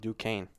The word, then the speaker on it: Duquesne: Yeah, apparently it's pronounced Duquesne. Duquesne Dukes.